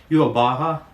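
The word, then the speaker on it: Yhwach: Yubaha, that's how you say it, yeah, Yubaha.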